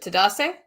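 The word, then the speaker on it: Tadesse: mispronouncing his last name is it to dase yes not to say yes okay how did you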